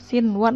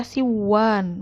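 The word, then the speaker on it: صنوان: Ya, sinwan nggak boleh dibaca siwan, nggak boleh. Tetap dibacanya sinwan.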